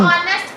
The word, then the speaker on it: honest: पहली बात है, एज जो है वो साइलेंट खामोश होता है। अच्छा, हाँ, मतलब ऑनेस्ट पढ़ते हैं।